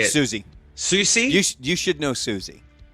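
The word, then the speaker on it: Siouxsie: of genres including how do you say it susie susie you you should know susie susie oh it's susie susie in the banshees which was old rock nine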